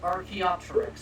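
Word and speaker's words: Archaeopteryx: Archopterix. Thank you, Ben, for the correct pronunciation.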